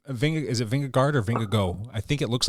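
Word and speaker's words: Vingegaard: mean that's but Ving is it vingard or vingo I think it looks like vingard it'sing but it's pronounced vingo that's whato vingo vingoo according to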